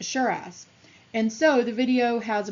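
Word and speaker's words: Cheras: located in Kuala Lumpur suburb of Sharra's which is pronounced Shiraz and so the video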